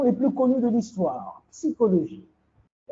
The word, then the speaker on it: psychologie: Ils coupent le P. Hein? Il faut dire psy. C'est comme Pepsi. La boisson Pepsi. Hein? Psychologie.